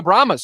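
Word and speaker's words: Brahmas: it's a San Antonio how do you say that the San Antonio bahas like the Brahma Bull like the Rock at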